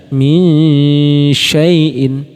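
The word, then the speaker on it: مِنْ شَيْءٍ: ikhfa ausat atau pertengahan jadi cara membacanya yaitu di samarkan ke huruf setelahnya jadi mulai samar ke makrajnya masing-masing contoh syin ya min min saaiin min syyaaiin jadi minya minyaaiin minyaaiin Nah contoh nun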